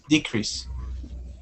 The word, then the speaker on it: decrease: cases a decrease or decrease um if you are using a verb the stress is on the second uh syllable in this cases those